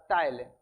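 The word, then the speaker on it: ptyalin: टलीन। ये P English का लिखा हुआ है। पी उसमें साइलेंट रहता है। तो वैसे ही लिखा है। टलिन ही पढ़ेंगे इसको।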